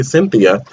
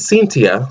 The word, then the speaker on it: Cynthia: Fontaine and I know Americans say Cynthia but she says cintia so I say seen